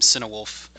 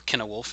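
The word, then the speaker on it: Cynewulf: 9th century anglo-saxon poet named cinewolf or kenowolf if it's the tolkien pronunciation but um it's a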